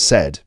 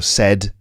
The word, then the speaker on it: said: time when you're reporting what someone else has said. It's not always just say or said. By the way, pronunciation, I should point out, say, the verb